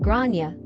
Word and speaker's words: Gráinne: the kid is called Grana, generally pronounced as grow n y uh or thereabouts.